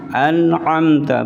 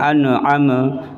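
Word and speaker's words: أنعمت: Nun sama mim. An'amta, bukan an'ama. Kadang-kadang ada gitu.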